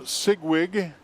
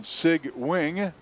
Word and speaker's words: Sigwing: His seed time was Stead's Adam Sigwig. Excuse me, I checked the pronunciation. Sigwing out of Halstead.